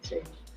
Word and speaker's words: Cheney: Dick Cheney, as I say his name correctly, Cheney, basically lied to the American people and said